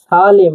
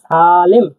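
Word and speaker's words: сәлем: হ্যালোকে কাজক ভাষায় বলা হয় সালেম। সালেম মানে হচ্ছে হ্যালো। দেখুন এস এ এল ই এম এ এটা একটু হার্ড করে বলতে হবে তাহলে কি হবে সালেম সালেম সালেম সালেম সালেম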